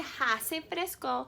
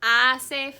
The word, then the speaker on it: hace: that means it's cool notice i didn't say ha se because the ancient spanish is silent i said ace fresco okay so i want